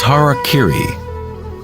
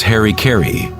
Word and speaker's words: harakiri: suicide or seppuku was harakiri was often mispronounced as Harry Caray it means to impale